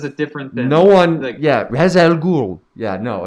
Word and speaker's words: Ra's al Ghul: his master, even though they pronounce it Raz in this movie and it's not correct.